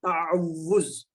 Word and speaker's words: تعوذ: اسے تعوذ کہتے ہیں. کیا کہتے ہیں؟ تعوذ. اس کا صحیح تلفظ کیا ہے؟ تعوذ.